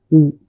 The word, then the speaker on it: U: In English we say it as you whereas in German we say it as u then fa fa f.